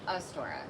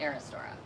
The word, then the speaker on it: Aristora: I was thinking it was Astora, but it's Aristora.